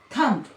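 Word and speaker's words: thumb: जैसे एक वर्ड है थंब, ठीक है, थंब, तो हम क्या पढ़ते हैं, थंब, ब नहीं प्रोनाउंस करना है, थंब।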